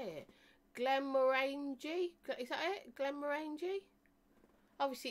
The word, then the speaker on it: Glenmorangie: Right, so Glenmorangie, pronounced as orange, just right.